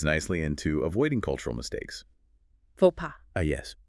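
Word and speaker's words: faux pas: Fauxa. Ah, yes. Pronounced fauxa. Straight from French.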